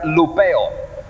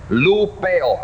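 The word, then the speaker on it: λυπέω: Causar dolor o tristeza es la palabra, lo que significa la palabra griega lupeo. Lupeo, así como se pronuncia, así se escribe.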